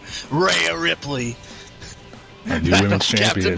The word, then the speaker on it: Rhea Ripley: Rhea Ripley is the way that you pronounce it, and that's just how it is.